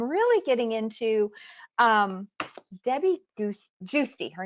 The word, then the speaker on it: Giusti: i can't see um it's uh g-i-u-s-t-i and it's juicy you pronounce it juicy and i just interviewed